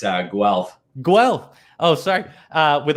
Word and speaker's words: Guelph: at home matthew graduated from the university of guelph is that how you say it sorry it's uh guelph guelph oh sorry uh with a bachelor's degree